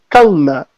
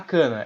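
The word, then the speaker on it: Kanna: Vamos falar de Kamui Kana. E não é Kana. Quem fala Kana tá pronunciado errado. Tem 2 N's. Inclusive, se você observar no anime, eles chamam ela de Kana. Tipo, separa Kan e Na.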